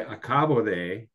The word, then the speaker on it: acabo: It's like, if you say acabo de, versus acabó de, right? One is present tense, the other is past tense. So it matters which syllable that you emphasize.